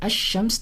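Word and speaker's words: الشمس: And when I say ash-shams, there's a lam, alif lam, but I'm not pronouncing the lam.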